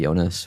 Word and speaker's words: Jonas: was like dear dear Jonas or I don't Jonas or Yonas. I think probably Jonas Scandinavian pronunciation but um I am